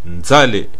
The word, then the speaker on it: Zaïre: Donc, ceci dit, maintenant que vous savez que Zaïre signifie fleuve ou rivière et que on le prononce Nzale également à l'origine, on peut aller voir ce mot dans le dictionnaire.